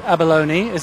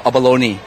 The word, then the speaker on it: abalone: uh about the name uh normally for England or US they call abalonei but in Asia we call abalone or in China they